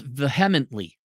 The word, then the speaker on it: vehemently: It's pronounced vehemently with a short E.